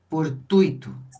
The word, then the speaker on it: fortuito: Infortuito, qual é a sílaba tônica? Twitter. Tui, fortuito.